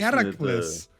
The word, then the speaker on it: Heracles: Oh, because Hercules is the Roman name of him. The Greek name is Heracles.